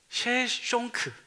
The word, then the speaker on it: 셰숑크: 다니 이름이 쇼생크 그래요 학명으로는 셰숑크 예 셰숑크 그게 이제 쇼생크 발음이 되는 거고 성경에서는 어떻게 나오냐면 시작으로